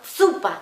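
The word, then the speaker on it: zuppa: Es como si tú pronunciaras esa Z como si tuvieras una TS o una DS delante, por ejemplo. Zupa, pues entonces tienes que poner como zupa, como TS, como zupa.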